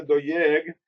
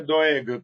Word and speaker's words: Doeg: escrito el nombre de Doyeg, sigue leyéndose doeg como antes. Quitamos la y de medio, sigue leyéndose doeg, pero se escribe doyeg.